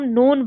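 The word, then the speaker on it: known: यह इसको हम नोन पढ़ते हैं। अब नोन में क्या साइलेंट है? तो ऑब्वियसली इसमें क्या साइलेंट है? के साइलेंट है।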